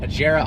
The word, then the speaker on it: Agera: Agera R is not right. It is the Agera.